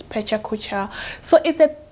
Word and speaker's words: pecha kucha: it's called pecha kucha pichaca pecha kucha i don't know how people pronounce it but my teacher said it is pecha kucha so is that it's